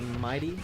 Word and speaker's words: MIDI: I believe like on the motherboard of the SNES, it's like a MIDI controller, or MIDI. How do you pronounce it? MIDI? It's MIDI.